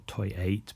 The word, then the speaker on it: Toi8: So yeah, she's married to Toy Hatchi uh or Toy 8, but I think it's pronounced Toy Hatchi, which is the Japanese.